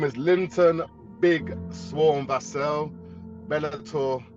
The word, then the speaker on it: Vassell: Linton Vassell, is it? Is that the best pronunciation? Because I hear them pronounce your name so many different ways. Vassell. Yes, give thanks.